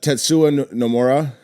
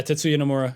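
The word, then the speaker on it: Tetsuya Nomura: Uh, the creator was uh, and you could help me on these names cuz I butchered the out of names. Uh, Tetssua Namora. Yeah, Tetssuya Namura.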